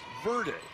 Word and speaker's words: Verde: V-E-R-D-E is pronounced Verde, which means green in Spanish.